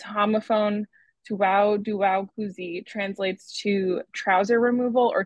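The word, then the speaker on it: 脱裤子: sites and exfiltrating their data Library dragging is pronounced Tu dong kuu and its homophone Tu daow kuzi translates to trouser removal or to take off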